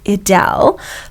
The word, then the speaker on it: Edel: Look, her name is actually pronounced Edel, but I've called her Edel from And she day used one.